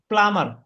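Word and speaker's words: plumber: প্লামার না প্লামার প্লামার প্লামার বি এখানে silent থাকবে তো ওয়ার্ডের শেষের দিকে যখন বি থাকে অধিকাংশ সময় বি সাইলেন্ট থাকে যেরকম এখানে অনেক আরো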